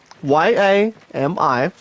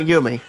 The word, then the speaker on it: Yami: Well, I guess we can probably go to Yami, Y-A-M-I, and that's called Yami. Yami, not Yumi. Like Yumi is pronounced as U-M-M-I. Like Yami is Y-A-M-I.